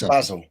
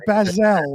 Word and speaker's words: basil: It's basil. I didn't say Barzil. You said Bazel, like Barzell.